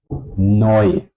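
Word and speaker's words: neu: would be winner okay then we have the combination Eu this would be oi oi oi like noi for example noi again I do not try to pronounce the vowels separately like eu eu something like this no they are pronounced as one sound oi oi oi okay you can compare heard a little bit like the sounds of voy or koi or to join.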